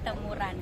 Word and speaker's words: Temurun: kepikiran Bikin acara lari karena ada Run kan Kalau bahasa Inggrisnya dibacanya Ran jadi temuran gitu cara lari gimana sih